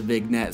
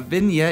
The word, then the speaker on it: vignette: vignette is right yes I know it's been yet but when I spell it I have to call it a vignette so I remember how to spell it right cuz that's not how you say it anyway a vineya is super